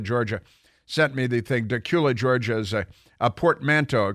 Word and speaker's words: Dacula: From Dacula, Georgia, and it's an amazing gift, and I want to share it with you because Chelsea and Dacula, Georgia, sent me the thing. Dacula, Georgia is a portmanteau, a combination of Decatur